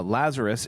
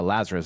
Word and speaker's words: Lazarus: Uh Lazarus is how we would pronounce it in English.